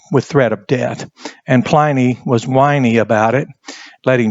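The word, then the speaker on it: Pliny: plyy I call him plyy he was a governor in the Roman province and I say plyy because it rhymes with whiny and it's funny in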